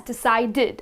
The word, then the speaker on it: decided: at deid d right the last sound that comes is the DU sound the D sound right that's exactly the reason why we pronounce it as decided okay we end up